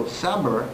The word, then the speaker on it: Sabr: So Sabr is pronounced without the I. It's Sabr, S-A-B-R.